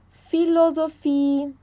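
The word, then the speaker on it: Philosophie: né bequim frequence quadrat PH ele tem o som de F filosofi Fantasy alfabet filosof fant e alfabet tá bom pessoal Então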